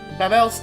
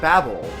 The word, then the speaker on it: Babel: That's interesting that you pronounce it Babel, because it is. That's technically what it's supposed to be. Is babbling? Babble like babbling? However, when I was a kid, we always pronounced it Babel. I've always been heard it was called Babel.